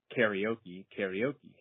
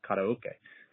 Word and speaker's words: karaoke: So there are some words, like, for example, I grew up calling karaoke, but then coming to Japan and realizing that that pronunciation doesn't fly here and you have to give it the correct pronunciation, which is karaoke.